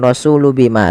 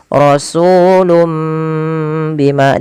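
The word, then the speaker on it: رَسُولٌ بِمَا: Jadi sehingga ini bacanya bukan rasulu bima tapi rasulum. Mimnya dibaca asalnya rasulun bima karena bertemu dengan ba diganti seperti ini penulisannya. Rasulum bima ditahan kemudian bima la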